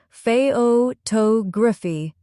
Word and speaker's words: photography: For example, the word photograph has stress on the first syllable, pho graph, but photography has stress on the second syllable, photography. Let's practice. Say photograph. Good. Now, photography.